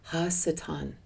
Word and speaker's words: ha-satan: and it was called Ha-satan. And it was spelled spelled it was anglified h a s a t a n pronounced hassatan.